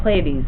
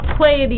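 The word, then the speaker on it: Pleiades: if you continue on through Taurus you find playes which is going to be our next one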